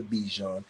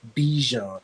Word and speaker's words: Bijan: Bijan. And the reason why I want to say Bijan, because it rhymes with Dijon.